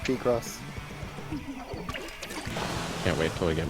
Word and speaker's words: Picross: It's pronounced P-Cross.